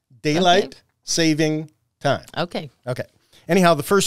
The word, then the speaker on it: daylight saving time: a long time ago do not say daylight savings time or you will get lots of emails and calls so I am making sure to what's the proper word here enunciate daylight saving time okay okay anyhow the